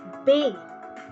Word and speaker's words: be: In Spanish, B is pronounced as bay. Bay.